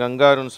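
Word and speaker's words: kangaroo: இதை நிறைய பேர் கங்காருன்னு சொல்கிறாங்க, தமிழில் அப்படி சொல்கிறாங்க, ஆனால் ஆங்கிலத்தில் கேங்கரூ அப்படின்னு உச்சரிக்கப்படுகிறது, ஓகேவா.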